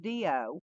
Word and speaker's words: Riyo: Y'all listen, Dio is from Japan, and his name is pronounced Dio, but it's spelled Riyo.